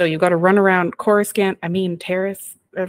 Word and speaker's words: Coruscant: Yeah, it's Coruscant. Coruscant. See, I'm the reader. This is why I mispronounce everything.